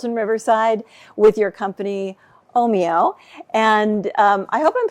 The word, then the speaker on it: Ohmio: it for me again Oho Oho okay so oh Mio okay sounds a little Italian um but how